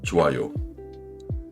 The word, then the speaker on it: 좋아요: Parler, 좋아요. Le H de 조 disparaît presque et le son glisse naturellement vers A.